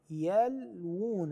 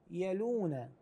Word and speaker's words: يلوون: منهم منهم لفريقا يلوون يلوون نلفظ واوين هنان بعض الناس يقراها يلون هذه غير سليمه هذه القراءه الصحيح ان